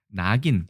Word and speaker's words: 낙인: 낙인, 원래 락인인데 지질 낙자예요. 불화자가 보이시죠? 그죠? 두음 법칙에 의해서 낙인으로 이렇게 발음합니다.